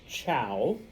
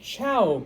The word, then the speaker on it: Zhou: And even though it's Zhou, it is pronounced Chow, okay? There was the Chow culture, okay?